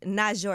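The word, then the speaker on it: Naujour: we locked in so the album is called not sure is that how you say your name yeah yeah you said it right that's good not sure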